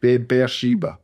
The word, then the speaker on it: Beersheba: But Be'er Sheba. Say it quickly like Be'er Sheba. Be'er Sheba. Like the word bear, like the fairy bear, Yeah. Woods. Yeah. Be'er Sheba.